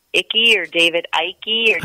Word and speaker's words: Icke: Well, like that, I might be mispronouncing his name, David Icke or David Icke or Ike, David Icke.